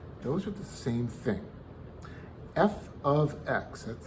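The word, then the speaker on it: f(x): those are the same thing f of x that's how it's pronounced f which is the function's name of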